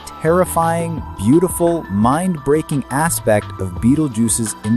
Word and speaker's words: Betelgeuse: Yes, Beetlejuice is pronounced Beetlejuice.